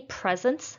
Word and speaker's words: presents: my son received many presents for his birthday my son received many presents for his birthday presence is a noun so we're going to stress the first syllable number three our team